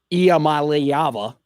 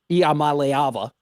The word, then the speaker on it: Iamaleava: And I knew we would be saying Nico Iamaleava, okay? Iamaleava. Iamaleava, that's how you say it.